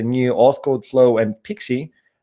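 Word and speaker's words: PKCE: the other that one as well anyway it's pronounced pixie but it's a proof code for key exchange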